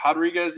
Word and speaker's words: Rodriguez: It's Rodriguez, even though it's with the R? Yeah. That's how they always pronounce it. So I think that's how she's Brazilian, and they pronounce it a little different.